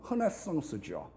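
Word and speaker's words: renaissance: 원래 르네상스라고 하는 말은 불어입니다. 원래 발음은 허네상스죠.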